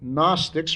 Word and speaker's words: gnostics: i CS gnostics uh in English the G does not get pronounced so we pronounce it gnostics or gnosticism and it